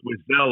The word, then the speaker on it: Wiesel: laureate, I'm going to butcher this name, Elie Wiesel. Is that correct? Did I pronounce that You're right? close. Wiesel, I believe, is the correct Wiesel, okay.